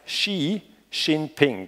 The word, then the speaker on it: Xi Jinping: Der heißt Xi Jinping, das schreibt man so, X-I. Und einfach eine Eselsleiter, wenn Sie sich das irgendwie merken wollen, der Präsident von China fährt nicht Snowboard.